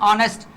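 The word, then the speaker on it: honest: उसके बाद एन ऑनेस्ट, यहाँ पे फिर साइलेंट है, ये भी आपका साइलेंट है, ये देखे ना एच है ना, एच आपका, ये देखें ये एच साइलेंट है, उसके बाद यहाँ पे साइलेंट है।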